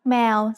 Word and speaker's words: แมว: In this word, the initial consonant is มอม้า The vowel sound air gets attached to it. So then we have แม Finally, the letter วอแหวน comes at the end. It makes a W or O sound that blends with the vowel to give us the word แมว If you think แมว sounds like the noise a cat makes, that's because แมว means cat in Thai.